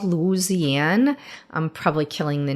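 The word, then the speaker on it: Luzianne: to have this coffee um it was called Louisiana I'm probably killing the name but um it was spelled like l-u-z-i-a-n-n-e and it was a chicory coffee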